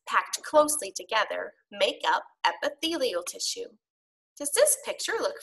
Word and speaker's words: epithelial: without you even having to think about it Athy lleol tissue let's try to pronounce it first say it with me uh